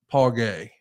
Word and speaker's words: Paul Guay: role that movie writer Paul guay a lifelong fan who wrote G Paul gay okay yeah is pronounced gay talk to me a little bit about Paul gay I mean I didn't